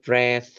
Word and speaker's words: breathe: They breathe for the patients while the patient can't breathe for themselves.